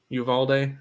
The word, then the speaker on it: Uvalde: How do you pronounce that? Uvalde, Texas.